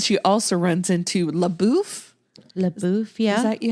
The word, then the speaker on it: LaBeouf: LaBeouf, yeah.